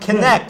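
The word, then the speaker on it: Kynect: In Kentucky, they have something called Connect. It's spelled kind of yes, weird, Connect.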